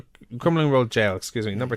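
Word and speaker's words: Crumlin Road Gaol: Crumlin Road Jail, isn't it? Is that It's just, yeah, is that how you pronounce it? Yeah, it's jail. Crumlin Road Jail, excuse me, number 2.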